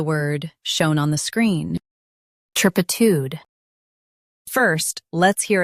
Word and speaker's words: turpitude: Tur, p, tud, turpitude. U.S. stress tur, UK stress pi.